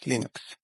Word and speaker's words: Linux: Linux hello this is Linux toal and I pronounce Linux as Linux like it's lus but you pronoun it Linux